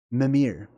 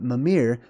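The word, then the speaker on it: Mímir: Norse gods named um mamir okay there's different ways to pronounce that name but mamir lives in his uh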